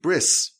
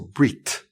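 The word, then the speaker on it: ברית: the word for covenant, bris, in Hebrew, it's spelled Beis, Resh, Yud, Saf. Bris, or Brit.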